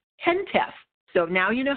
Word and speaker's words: HENTF: of the heritage emergency national task force it's pronounced tent F so now you know how to say it